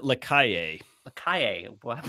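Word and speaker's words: Lacalle: Is it LaSalle? Is that how you pronounce his He name? pronounced it Lakaye.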